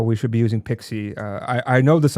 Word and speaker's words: PKCE: Uh Pixie, it's pronounced P, it's written PKCE if I remember correctly, not PXI E like maybe some of the people may be thinking.